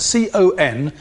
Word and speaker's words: conjoints: Christopher, a term sometimes used in English law, what are conjoints, spelt C-O-N-J-O-I-N-T-S, pronounced conjoints?